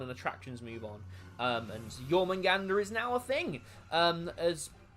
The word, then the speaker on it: Jormungandr: That's been themed to Jormungandr.